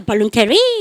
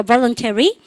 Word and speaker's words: voluntary: 발음부터 voluntary. 이러면서 강색 딱 찍고 혼자 발룬테리 이렇게 하면 그러니까 못 알아듣는 얘기죠. 전라도 알고 있어서 전라도야. 그러니까 말도 안 되죠. 그러니까 voluntary.